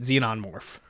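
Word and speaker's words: xenomorph: morph z yeah that's how you say it xenon morph uh the what was the the tagline 20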